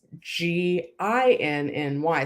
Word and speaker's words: Ginny: Jenny and Jenny Silver, and hers is Ginny. So that's more like a gin and tonic.